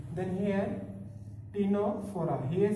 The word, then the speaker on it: Ctenophora: Then here टीनोफोरा. Here C is silent, here C is also silent.